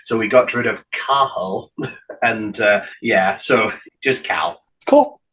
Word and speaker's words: Cathal: And so the guy interviewing him used his Irish Gaelic name, which it's spelled Cathal, C-A-T-H-A-L. Though I know, but it's pronounced Cahal because you don't pronounce the T, so Cahal.